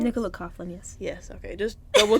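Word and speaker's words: Nicola Coughlan: pronounce her name Nicola Coughlin is that your pronounce Nicola coflin yes yes okay just double checking how we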